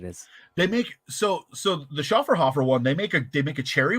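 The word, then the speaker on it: Schöfferhofer: Schafferhofer. I'm so bad at pronouncing That's a the name of that brewery.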